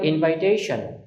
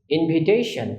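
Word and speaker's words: invitation: সাধারণত বলা হয় ইনভাইটেশন। But correct প্রান্সিয়েশন ইনভিটেশন। ইনবাইনা ইনভি ইনভিটেশন। তো আমরা যখনই এই শব্দটা উচ্চারণ করব আমরা ইনভাইটেশন বলব না।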